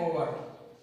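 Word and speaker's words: hour: इस शब्द में, ओवर शब्द में जो एच है वो साइलेंट है, उसके बाद जो बचता है उसका उच्चारण प्रथम अक्षर वोवल से है, इसलिए इसके पहले हम एन लगाएंगे, एन आर्टिकल है, इसका यूज करेंगे।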